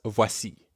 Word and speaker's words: voici: That's voici. Voici. In voici, we have the same oa sound as in toilette or voyage.